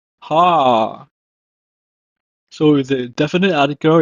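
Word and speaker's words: הַר: It's pronounced as Har. Har.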